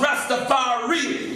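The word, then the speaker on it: Ras Tafari: Rastafari, or in Amharic would be pronounced Rastafari.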